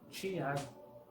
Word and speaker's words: Tiago: Por ejemplo, acá donde vivo, en la zona de Mata Mineira, en el estado de Minas Gerais, la pronunciación de palabras como Tiago suena como Tiago.